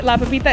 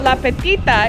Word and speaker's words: La Petita: So I said it wrong the other day, La Pepita, it's La Petita, excuse me.